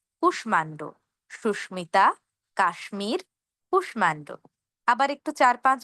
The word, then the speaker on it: কাশ্মীর: এখানে আমরা ম এর উচ্চারণ করব।